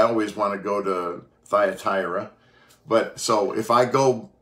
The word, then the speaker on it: Thyatira: When it comes to the pronunciation of this church, trust me, Rhonda and I have tried three or four different apps and got three or four different pronunciations. But again, that just simply comes from the ancient language and into more modern language. But Thyatira seems to be the one that works the best, although it's not the easiest one for me to say.